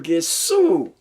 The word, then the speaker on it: Gesù: Italian people call him Gesù, with the G, a hard G.